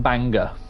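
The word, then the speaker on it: Bangor: Cuz when um me and Eevee first uh went to Bango, Richard was like, "Oh yeah, you don't it's not pronounced Bango. It's pronounced Banga."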